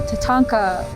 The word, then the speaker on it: tatanka: Buffalo, Tatanka, that's how you say it in Lakota.